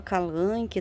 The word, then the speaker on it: Kalanchoe: Eu falo calanchoe, gente, tem gente que fala calanque, tá? Cada um fala da maneira que achar que é o correto da pronúncia, né? Enfim, eu acho até que eu tô pronunciando errado, mas eu já peguei a mania de falar calanchoe, vai calanchoe.